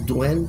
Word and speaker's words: duende: It's duende, it's pronounced like that, or elves, or something like that.